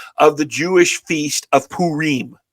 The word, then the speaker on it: Purim: the Jewish feast of Purim. It's spelled P-U-R-I-M, and some of us Gentiles say Purim. Don't do that. If you say Purim to a Jewish person, they're going to laugh at you. It's Purim.